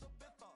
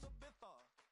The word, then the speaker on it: Ibiza: I just went to Spain, that's Ibiza. Ibiza, yeah, it's pronounced Ibiza, actually.